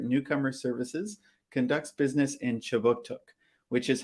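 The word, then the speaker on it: Kjipuktuk: Before we begin, I'd like to acknowledge that Right Start Newcomer Services conducts business in Chiboutuk, which is how you say Halifax in the Mi'kmaq language.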